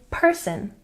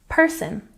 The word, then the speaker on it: person: Remember to put the stress on the first syllable when you say person, person.